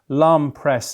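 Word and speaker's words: L'Homme Presse: On to Saturday in Ascot, Lom Press, is that how you pronounce it?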